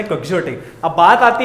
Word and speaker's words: quixotic: इसका actual pronunciation है क्वेक्सियोटिक।